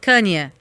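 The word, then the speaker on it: Kanye: O marido da Kim Kardashian, que é o eh Kane West.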